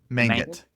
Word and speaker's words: Mangit: How do you pronounce it again? Sorry. Mangit. Yeah. Mangit? Yeah, Mangit.